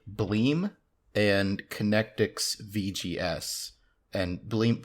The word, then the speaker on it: Bleem!: video game emulators called bleem and connectix vgs and blink blim is spelled bl eem with an exclamation mark at the end always so legally when i